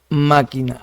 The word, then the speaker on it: máquina: Entonces máquina en ma, máquina, ahí está, sílaba tónica.